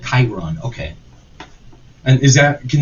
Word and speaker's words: Chiron: were referencing alzheimer's how did you say it chiron chiron okay and is that can you can you